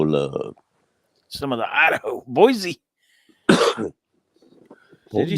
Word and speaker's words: Boise: It's not Boise. It's Boise. Boise with the S.